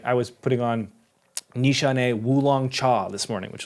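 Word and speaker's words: Nishane: is also unique like I was putting on Nishan woong Chaw this morning which was one of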